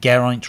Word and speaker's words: Geraint: Geraint rhymes with pint.